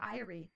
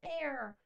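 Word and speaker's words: Ayre: her name is a now I'll start pronouncing it air that's not nearly as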